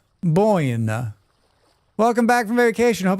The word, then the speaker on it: Buena: It's pronounced Boina.